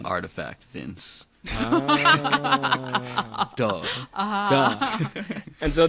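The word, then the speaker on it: RTFKT: It's pronounced artifact, Vince.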